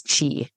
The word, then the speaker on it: qi: And if you ever play Scrabble, QI is chi.